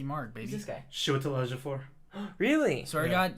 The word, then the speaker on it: Chiwetel Ejiofor: Oh wait, Chiwetel- I wait, just pronounced wait, it. hold on. I'll say it correctly right now. Chiwetel Ejiofor.